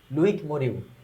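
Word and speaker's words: Loïc Moreau: আছে, এই যে মরিউ, লুইক মরিউ, হ্যাঁ, উচ্চারণ হবে লুইক মরিউ, ওকে, এই যে দেখো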